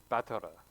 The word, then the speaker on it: Battler: And it's pronounced Battara. Batta. Dude, yeah. Because of the L and the R, they have to do an R sound at the end, but they also have to do like an LR sound like before the ER sound. So like, it's like batter.